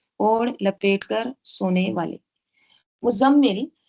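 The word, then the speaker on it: مُزَّمِّل: ठीक है, और ये जो मुज़म्मिल है ना, बाज़ लोग मुज़म्मिल पढ़ते हैं, मुज़म्मिल, ज़ाई के ऊपर तशदीद नहीं पढ़ते, वैसे नहीं है। नाम भी रखते हैं मुज़म्मिल, मुज़म्मिल कहते हैं, लेकिन वो गलत है। प्रोनाउंसिएशन क्या है इसका? मुज़म्मिल, ज़ाई के ऊपर भी तशदीद है, मुज़म्मिल। ठीक है, तो 2 तशदीद है, तो ये इसका सही प्रोनाउंसिएशन है।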